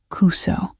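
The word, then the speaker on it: くそ: The U in Kuso should be shorter. Almost silent.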